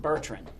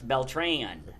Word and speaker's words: Beltran: and we first met, I don't think I'm the first one who probably pronounced it Bertrren because we do have Bertrrens around here, but it's Belran. Correct.